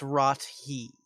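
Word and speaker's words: Rothé: I actually pronounce Rothay. Find you, sir. It's Rot-he.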